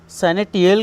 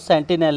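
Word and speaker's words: sentinel: सैनिटियल का मतलब होता है क्या, सैनिटियल बोल दिया मैंने, इसको सेंटिनल है इसका प्रोनाउंसिएशन।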